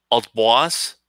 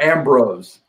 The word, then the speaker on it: Ambroise: Saint Ambroise. Ambroise? Ambroise. Think of it, Ambrose. Ambrose, okay. In French, it's Ambroise. Ambroise?